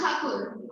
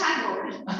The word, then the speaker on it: Thakur: Britishers couldn't pronounce Thakur; they pronounced it as Tagore.